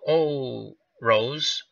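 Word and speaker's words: Orosz: 50-yard punt by Tom Oh Rose I believe you that's what you say his name o r OS z patrons will start first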